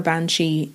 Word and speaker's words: banshee: Banshees. Banshees are predominantly present in Irish folklore, like I said, but legends of banshees also appear in Scottish stories. Now, the Gaelic for a banshee is ban-she.